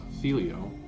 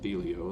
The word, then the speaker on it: Thelio: excited because finally my felio i think it's pronounced the leo that i ordered from